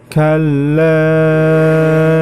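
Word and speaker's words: كَلَّا: Ya, di ayat yang ke-18 ini yang perlu diperhatikan adalah yang pertama, kalla. Di situ terdapat hukum bacaan mad wajib muttasil. Maka cara membacanya dibaca panjang 5 harokat.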